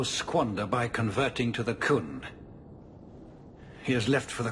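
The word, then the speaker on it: Qun: The life you saved, he would now squander by converting to the Koohn. He has left for the Kunari compound. Please, He Sarah pronounced Hawke, it correctly.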